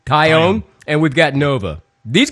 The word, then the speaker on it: Taillon: How do you pronounce his name? Taillon.